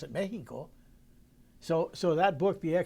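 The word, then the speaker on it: México: I mean we write I write Mexico with a j i don't write with an an X only a Mexican can can pronounce it Mexico so so that book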